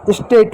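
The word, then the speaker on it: state: स्टेट हो गया। स्टेट हो गया। इ जो है शब्द के अंत में इसलिए वो साइलेंट है।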